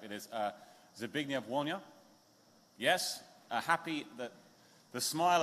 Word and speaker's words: Zbigniew Wolnia: It is, and I've asked him how to pronounce his name, so I shall hopefully get it correct. It is Zbigniew Wolnia.